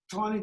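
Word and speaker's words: Taney: the new chief justice it's spelled t NE y but we have it on good authority he pronounced it ton now he was part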